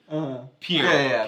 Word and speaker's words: Pierre: That's Pierre. Pierre. Yeah. Then Boulle is how you pronounce his last name.